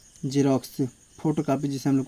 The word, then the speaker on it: Xerox: पहला रूल है, यदि किसी वर्ड के स्टार्टिंग में एक्स आए तो ओ ज का उच्चारण होता है।